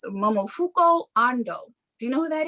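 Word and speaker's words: Momofuku Ando: know anything about is let me try to pronounce his name correctly and not jack it up okay it's momofuko ando do you know who that is no not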